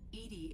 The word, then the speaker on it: EDI: are you named edie edie is the phonetic pronunciation of edi that is an acronym for enhanced defense intelligence okay fair enough uh